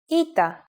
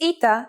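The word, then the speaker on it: ήτα: Our first letter is a vowel, Ita, which makes an E sound.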